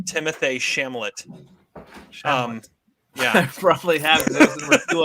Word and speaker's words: Timothée Chalamet: It's in my honorable mentions, and Adam, one of these days you will learn how to pronounce Timothée Chalamet's name.